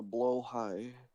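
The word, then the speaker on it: Blåhaj: I got a blow high.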